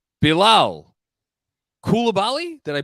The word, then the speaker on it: Coulibaly: Anyway, number 7, Bilal Coulibaly. Did I pronounce that correctly? Coulibaly.